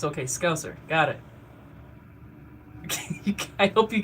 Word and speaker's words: Scouser: I always think it's Scoos, the Scoosers. I try to say it like Patty, because I think that's how you say it. Scouser. Okay, so I got Ash over here saying Scouser.